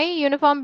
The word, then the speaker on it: uniform: okay oh uniform why uniform begins with a consonant sound y-o-u-u that's why okay is there